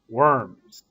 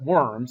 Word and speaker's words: Worms: And it's not Worms, it's Worms. Worms is a city in eastern Germany where the Diet of Worms was held.